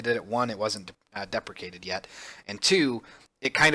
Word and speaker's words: deprecated: It's depreciated, or depreciated. I can never say it right. Deprecated. There we go. I just want to say depreciated, but it's deprecated.